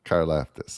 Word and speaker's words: Karlaftis: And I mean, and they, on defensive side of ball, they drafted, I always say this guy's name wrong, George, how do you say that? George Karlaftis. Karlaftis, all right.